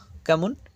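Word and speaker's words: comb: কোথাও be silent থাকে কেমন সি ও এমবি উচ্চারণটা কেমন হচ্ছে কাম নট কাম অর্থাৎ কাম মানে চিরুনি এল ও এমবি শেষের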